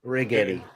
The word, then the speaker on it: Righetti: If anybody needs anything, Righetti, spelled like spaghetti. Really? Yeah. Well, it's Ri and then like spaghetti. Righetti.